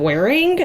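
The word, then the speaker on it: Whering: the time but there's this app called wearing it's spelled really funky it's spelled w-h-e-r-i-n-g and it's basically like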